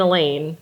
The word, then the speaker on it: Elaine: or any class, and Elaine, rhymes with pain.